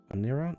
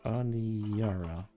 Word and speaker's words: Aniara: Anira? No, Aniara.